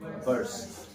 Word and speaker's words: burst: কিন্তু তুমি বাস্ট বলবা না, তুমি কি বলবা? বার্স্ট। Yeah, burst out in laughter, এরকম বলবা। There was a burst of, ভালো করে শিখো উচ্চারণটা, burst.